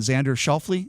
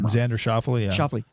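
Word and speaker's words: Xander Schauffele: like to bet on xander shelfly is that his name i always pronounce his name xander shuffle uh i read an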